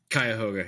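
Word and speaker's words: Cuyahoga: Koga is that correct kayoga yeah yeah I I don't know if that's actually correct I mean you know that's that's the common pronunciation I would say right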